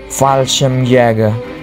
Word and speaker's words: Fallschirmjäger: Luftwaffe pun kemudian menunjuk unit pasukan khusus penerjun payung mereka, yaitu Fallschirmjäger, atau bacanya Fallschirmjäger, untuk menaklukkan pasukan di